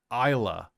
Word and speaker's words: Isla: And her name is Isla, pronounced Isla, but she uses her mom's name, so she's Isla Reeve.